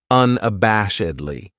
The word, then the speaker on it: unabashedly: This adverb has five syllables and the stress is on that third syllable that bash unabashedly. That second syllable has that schwa, that uh sound unabashedly.